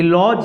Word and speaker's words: lodge: तो देखिए यहाँ फ्रेंड्स कि लॉज है तो डी साइलेंट है, यहाँ पे डी के बाद जी ई आया, इसको हम लोग पढ़ते हैं लॉज। लॉज डी क्या हो गया, साइलेंट हो गया।